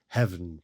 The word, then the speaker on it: heaven: Note that heaven here is pronounced with one syllable who hen itself for ornament use.